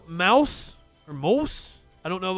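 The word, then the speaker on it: Maus: and a naked illustration it's pronounced mouse okay i didn't know if it had like a german like moose moose graphic novel mouse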